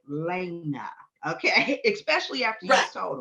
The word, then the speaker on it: Lay'na: And he said, "Okay, make sure you say her name is Lena Michelle."